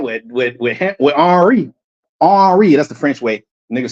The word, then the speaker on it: Henry: with with with HRI arri that's the French way nigg say Henry arri right spelled the same way as Henry arry don't pronounce the h just like in Spanish you don't pronounce the h they'll say hiot they